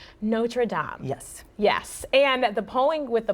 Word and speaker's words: Notre Dame: And then Notre Dame is okay for the Fighting Irish, but the French church that partially burned down is pronounced Notre Dame.